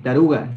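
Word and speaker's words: taruka: Taruga. Sí, la K se pronuncia como la G de gato.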